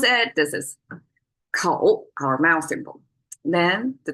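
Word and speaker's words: 口: It's made of a mouth symbol, kou, if you want to pronounce it. This is kou, our mouth symbol.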